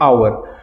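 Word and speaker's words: hour: तो इन an over अब यहां पे अवर कैसे प्रोनाउंस करते है हावर नहीं से हम ह से ह वाले साउंड नहीं आती असम आती है अवर तो यहां क्योंकि ये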